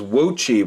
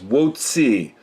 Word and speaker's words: Wocci: I first bought it I assumed that the CCI was pronounced the same way as Qi and Gucci but more recently I've heard it pronounced by someone who was presumably Chinese as won't see so the CCI is apparently C and not Shi and that sounds even